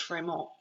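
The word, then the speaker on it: Frémont: name is in red his name is actually pronounced Fremont because it's of the French but um John C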